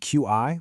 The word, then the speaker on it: Qi: That's spelled Q I, but pronounced Qi.